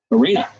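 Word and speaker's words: Aryna: Semi-final again at a slam, but she just ran into Arena. It rhymes with Serena.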